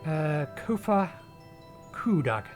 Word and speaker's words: Kofa Kudag: As for the nomenclature, to address my individual person, I believe it would be pronounced Kofa Kudag.